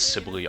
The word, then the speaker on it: Sibyl: outside of your heal, but I got Sybil for that. Yes, I know I keep pronouncing it wrong, it's Sibyl, I don't care.